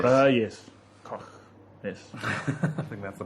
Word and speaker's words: Koch: Greg Cook. It's not Greg Cook. Sam Adams, yeah. Is it? Well, it's spelled Koch, but he's pronounced it. Yes. Yes. Koch.